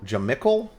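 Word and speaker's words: Jamycal: ] so nasty um i don't know how to pronounce this guy's name john michael jamichael jamichael i think it's ja michael but spelled m y c a l j michael hasty for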